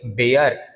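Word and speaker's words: bare: बेयर।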